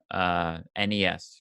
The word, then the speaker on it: NES: I was very young NES correct that is the correct pronunciation and I can say